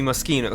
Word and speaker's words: Moschino: guess mosquito videos that I keep pronounce it as machine I was that's what I've always counted as and but now see that it's actually mosquito so I did actually